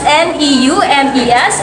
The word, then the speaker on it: neumes: It is spelled as N-E-U-M-E-S and pronounced as neumes.